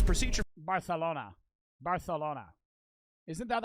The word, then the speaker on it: Barcelona: say it's procedure Barcelona Barcelona isn't that how they say it I know in most Spanish countries a C is just a c but in bar it's Barcelona Barcelona time around 6:40 most